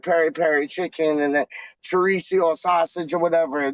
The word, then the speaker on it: chorizo: perry perry chicken and chorizo sausage or whatever they don't even say chorizo die they just say charisse you know what i